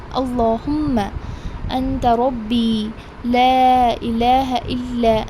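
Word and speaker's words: اللهم: I have mentioned in your last week's lesson that whenever you see the word Allahumma, you will not pronounce it as Allahumma, it is Allahumma.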